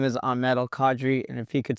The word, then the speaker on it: Ahmed: you speak yeah hey everybody my name is Amed Cadre and if he could speak Arabic Ahmed